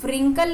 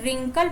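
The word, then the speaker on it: wrinkle: अब देखो रिंकल, इसको इसमें डब्ल्यू साइलेंट है, इसे व्रिंकल नहीं पढ़ेंगे, इसे रिंकल पढ़ेंगे।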